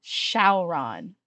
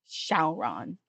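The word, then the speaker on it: Syaoran: to sign to chat it's spelled like s y a o r a n shaon um but it's more like it's it's more like the English we shaon is translated from like Chinese to Japanese to English if you if you translated directly from Chinese it would probably pronounce more like Zing anyway the whole show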